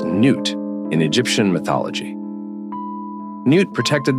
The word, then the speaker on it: Nut: But there is one suggestion, that it is, in fact, a celestial manifestation of the sky goddess Nut, pronounced Nut in Egyptian mythology.